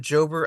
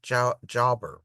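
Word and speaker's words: JOWBR: I pronounce it Jober. I think Nolan pronounces it Jauber or Jauber.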